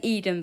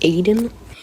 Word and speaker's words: Aiden: someone else, and then it was confirmed by him that it was pronounced Aiden.